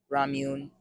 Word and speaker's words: Ramune: So, everyone knows the classic Ramune. That's how you pronounce it.